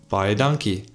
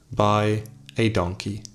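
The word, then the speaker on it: baie dankie: I also taught him how to say thank you very much buy a donkey that's how you say it by a donkey foreign before maximbus traveled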